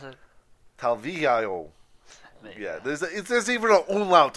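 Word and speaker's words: Talviyö: You sure you don't want to try to pronounce it? Talvillo.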